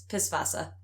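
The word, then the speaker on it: Pißwasser: of the character is when you spell that in German, but it's pronounced like an S, so it's Pisswasser, and it's just like a funny joke, because it's a beer joke.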